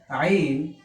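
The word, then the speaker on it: عين: This shape without any diacritical mark is called Ain. Its pronunciation in English is A-Y-N, Ain.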